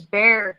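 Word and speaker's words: Bexar: Tandy and Miss tomboy I know how to to pronounce it now it is Bear County um the farm near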